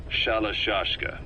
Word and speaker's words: Shalashashka: somewhere along the line, Shashka got stuck on the end of Sharashka. The guerrillas were using the name amongst themselves, and by the time I got to hearing about it, pronunciation had wound up as Shalashashka.